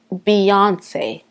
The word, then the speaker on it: Beyoncé: my styam bien sa en français c'est byoncé quelque chose un peu comme ça mais en anglais la prononciation c'est Beyoncé Boncé ok Z elle